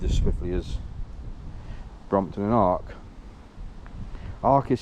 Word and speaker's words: ARCC: be dealt with as swiftly as Brompton and ARC. ARC is spelled ARCC.